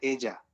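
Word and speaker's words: ella: Example দেখলাম সেটা হচ্ছে এজা মানে এজা মানে হ্যাঁ এজা মানে মানে আপু এই ডাবল এল ভাই ওইটা হচ্ছে ই ডবল এল এ। ওইটাওকে উচ্চারণ এজা বলে।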